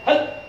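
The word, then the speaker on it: هَلْ: Anak-anak, lam sukun cara membacanya ditekan.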